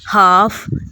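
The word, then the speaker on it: half: हाफ, इसमें भी L pronounce नहीं हो रहा।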